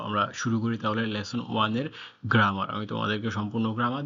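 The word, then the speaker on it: は: আমি এটাকে হা বলছি এখন জাস্ট তোমরা বোঝার সুবিধার, মানে তোমরা তো এটাকে হা পড়বা প্রথম নতুন নতুন সবাই। আসলে এটা হচ্ছে হা না, এটা হচ্ছে ওয়া।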